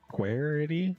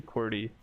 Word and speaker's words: QWERTY: wrong, and I'm gonna continue said to it pronounce was- wrong. Like Querity? Yeah, Querity? it's supposed to be QWERTY, but I It's- pronounced it oh, wrong.